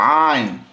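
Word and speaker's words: عين: এরপরে আসুন আমরা দেখি আইন আইন সো আইন আইন আইন আইন গলার মধ্যে ওখান থেকে আসতে হবে যদি এটা যদি না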